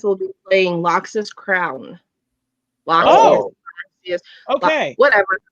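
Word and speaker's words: Loxias: Loxus. Okay. Whatever. Pretty sure it's Loxus though, because I think that I is not pronounced in that culture.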